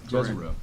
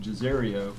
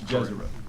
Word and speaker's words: Jezero: Jezero. Correct. I've had to actually work on that because I want to call it Jezerio phonetically. It's Jezero.